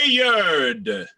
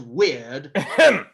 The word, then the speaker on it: weird: Say Wayard. Disyllabic. The Wayard sisters hand in hand. It's still 2 syllables, even if one says weird.